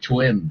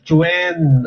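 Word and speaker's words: Quan: Ah Q U A Q U A N pero hindi kuhan ang pronunciation. Oo ang pronunciation Chwen Chwen.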